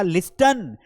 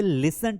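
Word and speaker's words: listen: हम पढ़ते ही नहीं, हम तो लिस्टन नहीं बोलते हैं। बचपन में जब मैंने पहली बार पढ़ा तो मैंने पढ़ा लिस्टन, लिस्टन टू मी। ये लिसन टू मी होता है, क्या होता है? That becomes लिसन टू मी।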